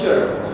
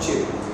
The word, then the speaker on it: chirp: So this word is chirp, not chip.